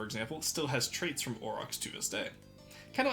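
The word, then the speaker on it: aurochs: Orcs. No, it's orox. There we go. Orox. Orox. It's a hard word cuz like au that makes me want to like use French pronunciation.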